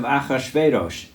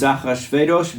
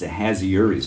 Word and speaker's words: Achashverosh: Now it came to pass in the days of Achashverosh. This is Achashverosh. By the way, that's how we pronounced it as kids in Hebrew school, not this Ahasuerus bit. Say it again for me. Achashverosh.